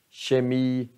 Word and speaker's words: kemi: Men här, sh, kemi, kind.